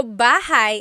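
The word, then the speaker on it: bahay: Shir said, I always make a mistake with bah and so bahigh is house. Buhai is your life.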